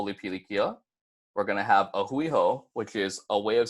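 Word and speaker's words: a hui hou: easy to pronounce - ah Hui ho is three separate words so it's gonna be aa Hui and then ho so if you guys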